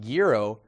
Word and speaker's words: gyro: home and in studio it's pronounced gyro not euro or gyro back to you